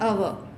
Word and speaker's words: hour: orange, an umbrella, an hour. So notice the word an hour. So notice the word R is H is silent. Here hour starts with vowel sound.